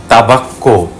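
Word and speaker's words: tabacco: যেমন ইতালিয়ানে মুক্কা মানে গরু, তাবাক্কো মানে হচ্ছে তামাক।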